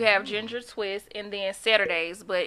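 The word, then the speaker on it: Saturdaze: And then Saturdays, but it's spelled S-A-T-U-R-D-A-Z-E.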